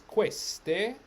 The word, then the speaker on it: queste: all right next word q u makes what sound is it hard k or is it that's right it's queste queste then the next